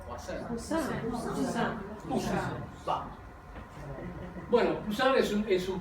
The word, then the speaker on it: Poussin: pueden ubicar, es la dedicada a ¿cómo se pronuncia? Poussin.